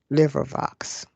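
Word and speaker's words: LibriVox: my list and there was in order to pronounce this and sometimes i get this incorrect um liver box so let me just spell this out for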